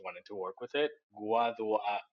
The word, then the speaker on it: Guadua: I want to talk to you a little bit about the uh we were talking about how do I pronounce this? The guadua?